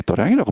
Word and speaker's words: 도량: 도가 있는 장소라고 그래서 도장인데 그 불교에서는 희한한 게 도량이라고 발음하더라고. 왜 그런지 모르겠는데 함자의 글 그대로는 도장이에요. 도장.